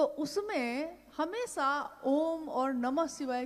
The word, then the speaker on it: ओम: अगर एक साथ सुना जाए उसको तो उसकी आवाज गूंजती हुई ऐसी है जैसे हम बोलते हैं या उच्चारण करते हैं तो हम कहते हैं ओम, है वो आ उ मा, यानी उत्पत्ति, स्थिति और